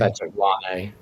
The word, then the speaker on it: Patrik Laine: Patrik Laine.